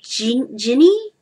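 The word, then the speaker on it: Jinni: Genie spelled J-I-N-N-I. So really it should be Ginny. It should be Ginny, but I call it Genie because there's two ways of saying it.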